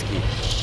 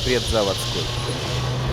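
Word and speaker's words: Предзаводский: PREDZAVODSKAYA STREET STOP pparently, the correct pronunciation is PredzavOdsky, not PredzavodskOy.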